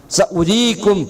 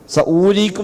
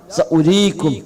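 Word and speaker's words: سَأُورِيكُمْ: സഉരീകും ആയാതി, സഉരീകും അവിടെ വാവിന് ഉച്ചാരണം ഉണ്ടാവില്ല, സഊരീക്കും എന്നല്ല സഉരീക്കും, ആ വാവിനവിടെ ഉച്ചാരണമില്ല.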